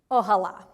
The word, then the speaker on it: Ojala: he pronounces it but it is spelled o j a l a maybe it's ojala ohala but in spanish it would have an accent on the last a o hala o hala